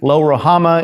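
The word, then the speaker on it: Lo-Ruhamah: is named no mercy lo rohama is the is the hebrew pronunciation terrible name to give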